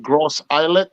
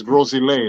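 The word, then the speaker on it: Gros Islet: which is grossly gross it looked like gross islet but it's gross delay that's how you pronounce it so big island or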